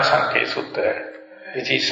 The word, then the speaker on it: Sankhaya: This one is called Maha, M-A-H-A, Maha, Thanha, T-H-A, no, T-A-N-A, T-A-N-A, T-A-N-H-A, T-A-N-H-A, Thanha, Sankhaya, S-A-N-K-H-Y-A, Sutta, S-U-T-T-A. And this is Majjhima Nikaya number 38, Maha Thanha Sankhaya Sutta.